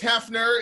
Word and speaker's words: HEFNER: It's, I never pronounced this band correctly. HEFNER. Right, Alex? That's that right. Yep, HEFNER.